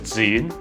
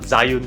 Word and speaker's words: Zhiyun: the osmo pocket too it is pronounced as zoom not zayun zhiyun one day i'll give